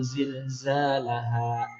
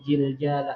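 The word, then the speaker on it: زلزالها: bacaannya idza zulzilatil ardu zilzalaha ada huruf zal ada huruf zai yalah di Quran tuh ada huruf jim dibacanya jim sabukuan ija juljilatil ardu jiljala nah ini mah merubah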